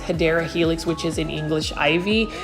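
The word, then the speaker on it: Hedera helix: of like similar to when I try to grow HRA helix or what I would call for my newer um viewers the correct way to say it is hadera Helix which is in English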